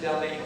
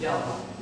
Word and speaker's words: Delhi: And we know that it's Delhi, India. The folks down there pronounce it Delhi.